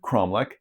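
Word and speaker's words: cromeleque: In Portuguese, it's said cromlech, it's spelled this way. English speakers sometimes look at that spelling and get confused, but the QUEs in Portuguese just makes a k sound.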